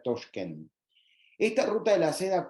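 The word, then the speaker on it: Toshkent: país que es toschken como les decía se escribe contá pero se en uveco se pronuncia touchen esta ruta de la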